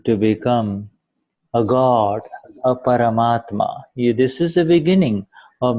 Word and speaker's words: Paramatma: começa a se tornar o próprio Deus, o Paramatma. Is that how I pronounce?